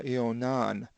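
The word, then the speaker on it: Ἰωνᾶν: And the word of the Lord came to Jonah, Ionan is how it's pronounced, the son of Amittai, legon, saying.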